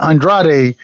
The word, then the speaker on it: Andrade: What you say his name is, bro? Is it Andrade? It's Andrade.